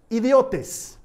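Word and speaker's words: ἰδιῶται: comunes se traduce de una palabra griega que se pronuncia idiotez en el que lo que digas conmigo idiotez no sé si te das cuenta a qué palabra termina pareciéndose pero hombres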